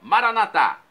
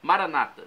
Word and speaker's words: Maranata: português eu vou clamar como dizemos nosso católicos com a tônica na última sílaba Maranata ou como dizem nossos irmãos separados com a tônica na penúltima sílaba Maranata não importa pronúncio significado é o mesmo vinde o Senhor